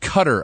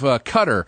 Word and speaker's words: Qatar: The guy I'm so excited to see what will happen to him is the guy it's pronounced Qatar, I think.